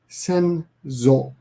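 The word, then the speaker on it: 先祖: You have sosen and senzo. Sosen, senzo, sosen, senzo. And I'm often forget when to pronounce when the S changes to a Z.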